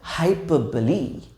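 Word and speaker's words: hyperbole: देखिए पहला तो हाइपरबोले, ठीक है। बाय द वे इसका प्रोनाउंसिएशन हाइपरबोल नहीं है, मैं तो भूल ही गया, हाइपरबली।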